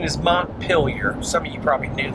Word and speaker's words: Montpelier: So the correct pronunciation is Montpelier.